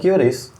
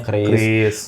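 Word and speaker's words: QRIS: Gua kebiasaan curis. Kalau gua Kris. Kalau gua Kris. Heeh. Karena Q ketemu Kris. Heeh. Jadi ee ya tapi kan sudah ditentukan sama BI dibacanya Kris.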